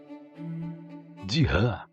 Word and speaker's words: Ziran: De rã se escreve Z, I, R, A, n, Ziran, mas se pronuncia algo parecido com e significa literalmente aquilo